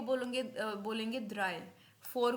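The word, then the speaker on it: drei: मेरे साथ रिपीट करना थ्री को बोलेगे बोलेंगे ड्राई फोर को फियर फोर को फियर यर नहीं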